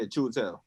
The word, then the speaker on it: Chiwetel: Yeah, Chiwetel.